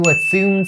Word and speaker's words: assume: For the pronunciation, you guys should keep in mind that assume, for the second syllable, it starts with the S sound. Zoom, not Z sound, not zoom.